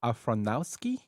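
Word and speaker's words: Aronofsky: Afronowski.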